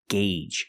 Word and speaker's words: gauge: engine is turning and remember the pronunciation gauge use the long a sound one gauge and two